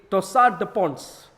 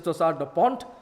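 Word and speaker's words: torsade de pointes: what is called a torsade de Ponce. Torsade de Ponce is the English pronunciation. The French pronunciation is torsade de Ponte.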